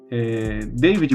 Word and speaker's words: David: David, mas se escreve David com D mudo.